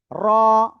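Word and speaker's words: ر: তারপরে আমরা শিখেছিলাম এই অক্ষরটা, জিহ্বার আগার পিঠ তার বরাবর উপরে তালুর সাথে লাগে অক্ষরটা উচ্চারণ হবে র।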